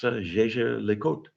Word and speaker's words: Jaeger-LeCoultre: My literally my last name is the same phonetics as LeCoultre cuz is but you don't pronounce the r e. So, the fact that my name is pronounced the same as LeCoultre and I'm being accused